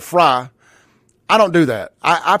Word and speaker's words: Frey: It's spelled Frey, but they pronounce it Fry.